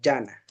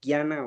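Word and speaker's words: ज्ञान: Entonces, este es como un fonema especial que suena como gui, entonces en español los podríamos escribirlo así. Entonces, gana o a veces lo pronuncian también llana.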